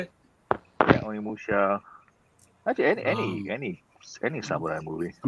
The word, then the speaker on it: Onimusha: Yeah, Onimusha.